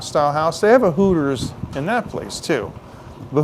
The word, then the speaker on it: Hooters: But in Massachusetts, they don't like to say, you know, the letter R. So I used to teach people the proper way to say Hooters in Boston is to say the words who it is. And just run them together.